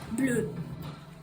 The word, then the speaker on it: bleu: So how do you pronounce blue in French? Bleu.